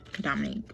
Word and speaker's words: Dominique: Like, they always add an extra O in there, like Dominique, and it's Dominique, like French. Like, think of how French people say Dominique. Like, Dominique is how you say it.